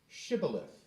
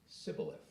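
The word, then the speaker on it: shibboleth: no and they would say say shth but he would always say cilith he couldn't say it right then they would grab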